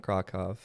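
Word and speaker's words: Kraków: I saw and then Krakow oh yeah uh which are pronounced uh varsava and krakov but um uh the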